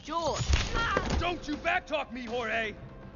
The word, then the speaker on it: Jorge: one up gets it Jorge my name is pronounced jewel don't you backtalk me